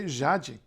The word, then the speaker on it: Jade: team jaaji Barbosa see jaaji oh yes the J by the way it's not like in Spanish it's not it's got